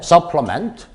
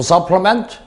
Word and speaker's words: supplement: 뭐 하기 위한 도구와 기구들이냐면 supplement, 조심해야 됩니다. 이거 이자의 발음이 에요. supplement, 명사면 supplement, 명사면 어이지만 지금은 동사입니다. 그래서 그리고 그 외에 제2강세 보충하다 이런 얘기죠. to supplement or enhance, 질을 높이다, 향상시키다, 더 좋게 만들다 이런 얘기죠.